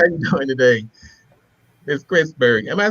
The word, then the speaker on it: Christburg: every time I said Chrisberg? No. Many people often um mispronounce it, but I'm okay with it. But just think about God and Christ.